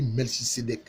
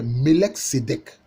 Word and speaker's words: Melech Sédek: En français, on dit Melchisédek, qui vient à la rencontre d'Abraham après que Abraham soit revenu de la guerre des rois. Mais en fait, si on prononce correctement son nom, c'est Melech Sédek.